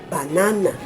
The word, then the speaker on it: banana: Banana, banana, not banana, banana. Now you have the stress label as the second syllable, which is not.